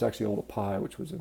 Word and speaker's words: Olduvai: a lot of people call it sort of Olduvai but it's actually all the pie which was a mispronunciation of the way it's written you know